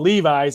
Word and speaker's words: Levis: first of all if I'm wearing a pants called Levi's and I have to call you Levis it's spelled the same as a big check mark